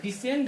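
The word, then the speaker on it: descend: यहां पर डिसेंड है तो सी के बाद इ आया इसलिए सी गायब हो गया।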